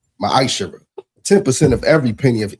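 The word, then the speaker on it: מעשר: Means tenth in Hebrew, and it's pronounced ma'ashara.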